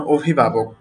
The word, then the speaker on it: অভিভাবক: যেমন অভিভাবক। আমি শব্দটির উচ্চারণ করেছি অভিভাবক। আমি কিন্তু অভিভাবক বলিনি। শুরুর যে অটা আছে এটাকে আমি ও এর মত করে বললাম।